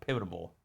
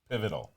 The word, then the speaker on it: pivotal: pivotal a pivotal uh pivotable help me here pivotal well I'm gonna why am I saying pivotable you're adding extra syllables um so I did